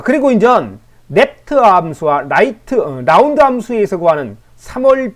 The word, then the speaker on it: REPT: R R이 PT 랩트 함수라고 저는 발음을 하는데 그렇게 발음 안 하고 멋지게 하는 분도 계십니다.